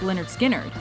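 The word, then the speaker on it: Lynyrd Skynyrd: rock and roll Swagger Leonard skinnard became fixtures of the southern rock scene it's because of this cut off pronounced Leonard skinnard that the band first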